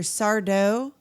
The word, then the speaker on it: Sardo: That's a good And anything with either Sardo, uh, no mister accent on the dough, or Mr.